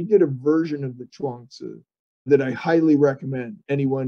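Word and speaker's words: Zhuangzi: u a n g z i but it's pronounced chuangsu correctly in either case that's the one that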